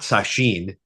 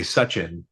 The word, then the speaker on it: Sachin: I'm not Sachin, I'm actually Sachin.